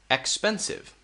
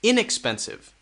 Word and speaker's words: inexpensive: uh uh uh uh three syllables expensive okay expensive expensive notice that we stress this one expensive expensive now it changes with the next one this will be stressed inexpensive inexpensive inexpensive we focus more on the in inexpensive